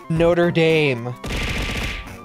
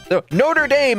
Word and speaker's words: Notre Dame: them you don't use Notre Dame and notredam yes may be the same spelling for the same type of words but we pronounce them explicitly different because they're explicitly different places notra is you can feel